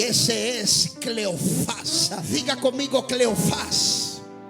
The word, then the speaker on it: Cleofás: Diga conmigo: Cleofás. Esta palabra viene del original griego y se pronuncia Cleopas.